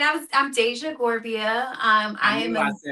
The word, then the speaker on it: Dasia Gorbea: Yes, it's Deja Gerbia. Okay. Okay, cuz I feel like James butchered that completely.